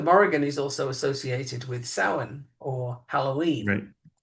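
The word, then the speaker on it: Samhain: And by the way, um the Morgan is also associated with sin or Halloween this time of year.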